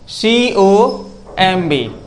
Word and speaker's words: comb: जैसे देखो एग्जाम्पल समझ जाओगे, अगर एम के बाद बी आएगा तो बी साइलेंट ही रहेगा, कभी बोला नहीं जाएगा, चाहे जिस सेंटेंस में, चाहे जिस वर्ड में हो।